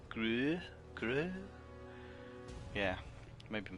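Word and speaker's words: Grøh: Here's a new character, the Gru. That's an oo sound, isn't it? The O with the line through it. Gru.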